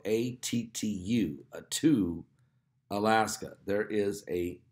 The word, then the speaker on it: Attu: That's spelled A-T-T-U, Attu, Alaska.